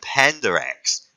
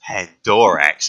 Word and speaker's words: Pandorax: I'm going to the planet Pandarax. Actually, it's Pandorax, and then a Night Lord comes out from behind you and kills you for mispronouncing the word.